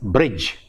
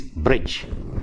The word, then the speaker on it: bridge: Say for example, in a word like bridge, it is bridge, but we Malayalis tend to pronounce the word with the d sound in it. Bridge. No, it is bridge.